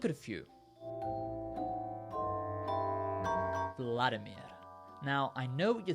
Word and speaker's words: Vladimir: have that sound either when you see an i in a Russian name it's pronounced e e so it's not Vladimir it's vadir Vladimir the third thing you're